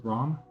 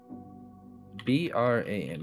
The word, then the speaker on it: Bram: And as I see him like walk around, was it Brom? Bram. Yeah, Bram. Bram. The first half of my name. Yeah, Bram, or last name. But I think it's pronounced Bram.